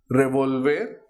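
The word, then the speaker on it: revólver: Revolver means to turn over. Revolver in Spanish is revolver with the accent on the O.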